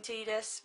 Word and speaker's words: Tidus: Yes, and I don't like saying Tidus, but that is how it's pronounced apparently.